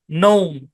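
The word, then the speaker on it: gnome: আরেকটা উদাহরণ দেখি আমরা জি এন ও এম ই ভাই চোখ বন্ধ করে জি সাইলেন্ট করে দেন তাহলে এই উচ্চারণ কি সেকশন থ্রি এর প্যাটার্ন নোম কি উচ্চারণ নোম নোম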